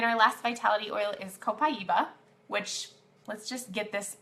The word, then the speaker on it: Copaiba: So Copaiba is how we pronounce that.